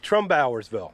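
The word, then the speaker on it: Trumbauersville: I met Dave, who was outside, and he corrected me on how I had to pronounce this small town here. What is it, Dave? Trombowersville.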